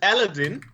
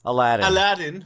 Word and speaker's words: Aladdin: version, and this and Aladdin. No, I pronounced it wrong. I learned it's Aladdin, right?